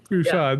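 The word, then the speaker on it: Peychaud: So, um, apparently it was Anton um, Puchad. Push. Yeah. Push.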